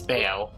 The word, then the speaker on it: Bao: remember something about Lraya Bod will let me and influence game bod I think it is it's bao for some reason it's pronounced ba like the actual food bowel turbless seal locked of This store leads to All right.